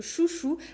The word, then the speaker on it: Xuxu: Ça s'écrit Xuxu, mais ça se prononce Chouchou.